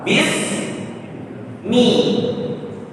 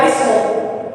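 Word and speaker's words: بِسْمِ: Seperti tadi lafaz basmalah bis mi. Jadi bacanya bukan bismu, bukan bisma, tapi bis mi.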